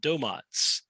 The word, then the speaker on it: Domotz: management domains is a domo is really how we pronounce it with long o's but domotes is a